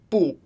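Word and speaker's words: 不: make a movie for boo she said sometimes boo is pronounced with the second tone are there rules on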